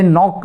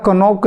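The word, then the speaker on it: knock: अब जैसे कि कहा जाए नॉक द डोर, और कोई उसको पढ़े जो उसको ना जानता हो, तो वह कहेगा कनॉक द डोर, के साइलेंट वह नहीं पढ़ेगा, कहेगा कनोक द डोर। अब क्यों कहा उसने कनोक द डोर? क्योंकि यहाँ पर उसे ये नियम नहीं पता कि के साइलेंट होता है, वह मौन में चला जाता है, उसे बोलना नहीं होता, उसका उच्चारण नहीं होता, उसे मालूम नहीं।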